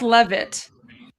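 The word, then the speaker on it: Leavitt: It's it's pronounced Levit. Levit.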